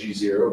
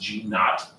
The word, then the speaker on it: G0: phase that's what G some people might read that as g0 but it's pronounced G not not that it matters